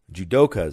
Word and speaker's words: judoka: some good and positive news here to Israeli judoka so that's how it's pronounced judo experts champions took home gold and